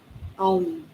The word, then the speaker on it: Om: Om. Yeah? Yeah. So Ma is, we can say it's like, when you pronounce the Om, you can imagine the three sounds, O, A, U, Ma.